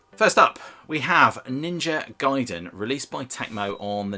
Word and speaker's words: Gaiden: So, first up, we have Ninja Gaiden, released by Tecmo on the NES in 1988. And just to clarify something, that is Gaiden, not Gaiden.